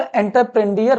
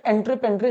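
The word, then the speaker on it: entreprendre: मतलब कई लोग इसको एंटरप्रेन्डियर पढ़ते हैं, बट एंट्रेपेंड्रे सही प्रोनाउंसिएशन होता है।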